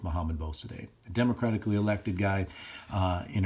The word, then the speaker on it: Mohammad Mossadegh: I've heard it pronounced a bunch of different ways. I've always gone with Mohammad Mossadegh.